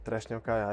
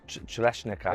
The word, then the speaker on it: Trešnjevka: It's called Trešnjevka. I think it's tough to pronounce. It's called what? Sorry. Trešnjevka. Right. Okay. Try to say. Chereshnika.